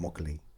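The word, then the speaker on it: Muckalee: And um lovely lovely spot called Mockalee. And What's it called? Mockalee. Means where the pucks lie. Mockalee? Mockalee. You got to say it like that. Mockalee.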